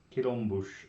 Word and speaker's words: quilombos: Quilombos of the... Is it still Palmares? Yep. But the O-M turns into an like a French nasal.